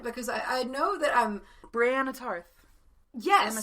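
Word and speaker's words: Brienne Tarth: Brianna Tarth.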